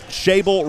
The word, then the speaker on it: Schaible: We want to thank our good friend Cheryl Visnick with Shable Realty. Shable Realty. Look them up on Facebook. It's spelled SCHAIBLE. That's Shable Realty for all of your real estate needs here in Central Texas.